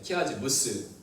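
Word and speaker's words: chiasmus: 키아즈무스. 그래서 키아즈무스라고 부르는데, 이 키가 그 그리스어 X를 키라고 발음을 하기 때문에 키아즈무스라고 말합니다.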